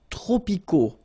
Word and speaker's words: tropicaux: the S, and then we don't pronounce the T either. Les climats tropicaux. Final X not pronounced.